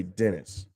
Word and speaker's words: Denis: You had obviously now we have I think his name is Denis. I think it's how you say it. I've always said Denis Villeneuve, but I've heard other people say Dennis.